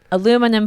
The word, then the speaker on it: aluminum: to cover some food aluminum foil right we call it aluminium aluminium aluminium five syllables aluminum four aluminum where's the stress